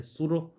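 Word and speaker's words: pseudo: ऐड कर लो सूडो P silent है इसमें तो बोलेंगे सूडो फॉल्स नकली ठीक है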